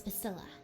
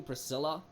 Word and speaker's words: Pasilla: try that again no if you must know it's pasilla are you sure you don't mean Priscilla do I look like the kind of person who can't correctly pronounce their own name what's your name smartypants